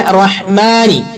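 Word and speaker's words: الرحمن: പിന്നെ റഹ്മാനി, റഹ്മാനിന്റെ അവിടെ ശ്രദ്ധിക്കേണ്ടത് മ എന്ന് പറയാം. അറബിയിൽ മ എന്ന് പറയേണ്ടത് എങ്ങനെയാണ്? മേ എന്നല്ല, മ. എന്നാലും മാങ്ങ എന്നൊക്കെ പറഞ്ഞ ഒരു മ എന്നും ആവൂല, മ എന്നാണ് ഉച്ചാരണം. അപ്പൊ റഹ്മാനി.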